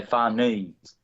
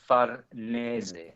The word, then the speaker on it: Farnese: I think in English they tend to say Farnese, but in Italian it's Farnese.